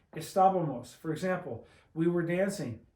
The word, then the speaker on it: Estábamos: And if you want to say we were, you just make this, put an MOS and put an accent on the A. Estábamos.